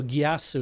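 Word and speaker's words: geas: that's such a great so gasu is how it's pronounced because I've heard it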